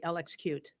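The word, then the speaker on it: LXQt: right and toolkit um I've heard it called cute swim here yes that's what I'm gonna say LX cute so but it's spelled out LX cutie yeah just for everybody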